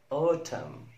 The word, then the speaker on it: autumn: MN في نهاية الكلمة لا ننطق N. مثال autumn, autumn, autumn, damn, damn, damn.